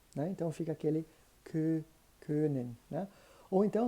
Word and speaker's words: können: Então, fica aquele können, né? Ou então, se você começar no O, né, e terminar no E, ali no meio, né, você vai encontrar então a pronúncia exata do Ö, tá?